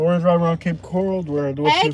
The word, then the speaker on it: Cape Coral: Some people pronounce it Cape Coral, but the locals know it's Que Cora, man.